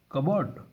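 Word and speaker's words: cupboard: गया हम लो क्या पढ़ते कपड लेकिन प साइलेंट हो गया क्या बात है भाई कितना खतरनाक ड होया कबड कबड कबड क्या कड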